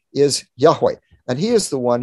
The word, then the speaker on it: Yahweh: the god of israel his name in the old testament is usually pronounced by scholars yahweh we don't exactly know how to pronounce it it's the four letters in hebrew you'd have hey and we think it's probably pronounced yahweh although the traditional pronunciation was lost he that is the